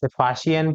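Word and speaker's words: Faxian: लिखा गया है दोस्तों इसकी स्पेलिंग यदि हम लिखे तो वो बनती है एफ ए एक्स आई ए एन अब इसे आप क्या पढ़ेंगे य आपकी मर्जी फसन पढ़े चाहे फाहियान पढ़े यह आप पर डिपेंड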